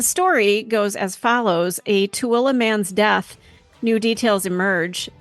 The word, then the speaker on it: Tooele: we're doing our best so it's tuilla correct tuilla but it doesn't look